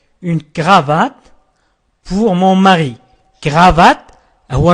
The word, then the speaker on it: cravate: cravate هو النطق الصحيح.